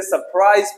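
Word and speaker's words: surprise: जी हाँ, इसे सरप्राइज पढ़ना है, सरप्राइज। चलते हैं एस से साइलेंट वर्ड, इसे पढ़ेंगे आल।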